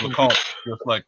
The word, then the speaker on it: LeComte: Hey, Grant, yeah, so I pronounced it the right way the first time. So it's LeComte, just like I thought. So that is, yeah, that's it. French Canadian French, nonetheless.